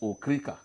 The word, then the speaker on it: Okrika: But the correct pronunciation is Okrika.